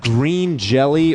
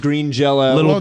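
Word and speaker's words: Green Jellÿ: I think I got Green Jelly, or it's pronounced Green Jello. Did you get it as Jello or Jelly? It had a Y, but I think the thing with them is you always pronounce it Green Jello.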